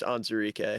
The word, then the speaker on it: Onwuzurike: Geek, according to how to pronounce, it is just Onzurike.